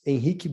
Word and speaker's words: Henrique: My name is Henrique. It's a crazy name to be spoken in the English language. I know that. The R makes no sense in the way we pronounce here.